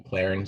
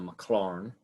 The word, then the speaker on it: Maclaurin: We just can't call him the McLaren series. Well, you could if you'd like, but the way you pronounce him is the Maclaurin.